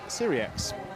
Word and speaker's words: Cyriax: And it is Cyriax. The X is pronounced, so there you go.